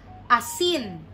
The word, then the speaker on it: asin: vowel sounds okay so for letter A that the sound is ah right so we have Asin Asin means salt salt